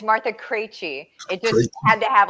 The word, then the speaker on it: Martha Krejci: Um, guest tonight is Martha Cra. And I think I messed it up, so I'll let her fix pronounce me again.